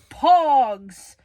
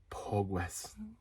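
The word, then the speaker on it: Pogues: Next up, we've got Hell's Ditch by the Pogs on CD, sold for $8 shipped. I don't think it's Pogs. Pogs is like the toy. Okay, you pronounce it. Pogwes. Right, that's what it is.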